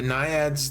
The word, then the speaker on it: naiad: Did I spell that wrong? What's a naiad?